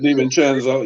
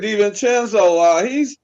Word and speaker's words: DiVincenzo: Well, but I think also the Knicks have had people step up in a big way because DiVincenzo, I think I pronounced his name, DiVincenzo, yeah.